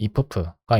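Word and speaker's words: iff: if 그다음에 if프가 있는데 if프라고 제가 발음하는 거는 if프 and on if프이고 이거의 발음이 이프는 아니에요. 그냥 이프이긴 한데 무엇일 때 그리고 그럴 때에만이라는 의미를 가집니다.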